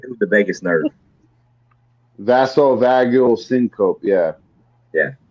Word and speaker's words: vasovagal: I can pronounce it. Vasovagular or something. Yeah, it's It's got to do with the vagus nerve. vasovagal syncope.